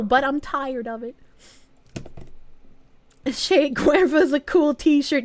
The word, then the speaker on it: Che Guevara: Che Guevara's a cool t-shirt. You guys are forgetting the R. That's like the only word I actually pronounce the R in.